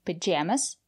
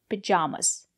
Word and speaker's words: pajamas: pajamas some people say pajamas and some people say pajamas both pronunciations are correct and when you are